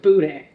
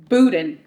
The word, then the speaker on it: boudin: Now, when someone not from Louisiana says the word boudin, how do they normally pronounce it? Boudin. It is not. It's boudin.